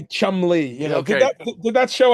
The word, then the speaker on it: Cholmondeley: um with pronunciation of my name. So There we go. you Uh, just say Chumley, yeah, Did okay.